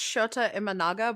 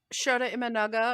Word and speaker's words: Shota Imanaga: I'm assuming it's Shota Imanaga, but I don't actually watch baseball.